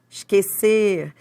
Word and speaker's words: esquecer: Você não pronuncia esse U, né? Esquecer.